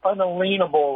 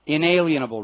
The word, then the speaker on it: inalienable: and what I referred to as natural or unalienable rights inalienable right Creator inalienable rights is how it's pronounced um well see that's the whole point